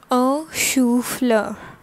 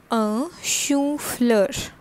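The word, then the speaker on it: chou-fleur: tomato called in french all right next is a shoe floor right which is cauliflower so what does the cauliflower called in fringe a shoe flurry this is what fleur okay so this is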